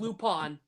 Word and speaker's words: Lupin: of winnie the pooh lupin the third box in the ham huh it's pronounced lupone oh lupone sorry the